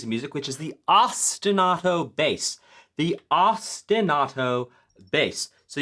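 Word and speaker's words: ostinato: music, which is the ostenato bass. The ostenato bass. So, you say it like it's from the city Austin and then auto like automatic, but it's spelled auto.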